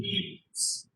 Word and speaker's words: Hindu: They started actually calling them Sindhus, but because Sir is pronounced as her, it became Hindus.